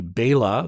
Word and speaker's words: Bela Lugosi: and that would be Bela Lugosi. I always mistakenly call him Bela. It should be Bela. That is the correct pronunciation.